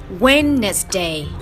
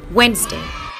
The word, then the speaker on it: Wednesday: everywhere bingo a quick note Wednesday is not pronounced Wednesday but Wednesday Wednesday is named after which two guns a